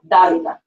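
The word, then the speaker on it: Dávila: So anytime you see an accent in the word, you should go, okay, wait a minute. I'm going to have to pronounce this counterintuitive. So you see that accent, you're like, Davila.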